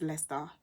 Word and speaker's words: Leicester: try to improve myself so it's lester or lisa i think it's lester and then coventry and